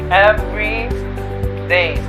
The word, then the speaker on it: everyday: meaning than every day first let's look at the sounds of these two words every day you pronounce both syllables of the words every day everyday on the other hand has only the first syllable emphasized and the second one sort of dives in everyday what does it mean